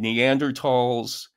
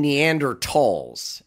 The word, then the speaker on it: Neanderthals: Yeah, so the German pronunciation would be Tall.